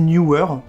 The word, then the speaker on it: Neewer: Alors je sais qu'il y a des gens qui disent Newer. Moi, je vois 2 avec un W, pour moi, c'est Neewer.